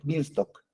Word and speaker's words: Beanstalk: La segunda opción de cómputo es Amazon Elastic Beanstalk. Así se pronuncia, Beanstalk.